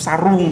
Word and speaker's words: sarung: Tapi kalau kita tuh sarung. Tapi Malaysia tuh sarong atau bacanya sarung.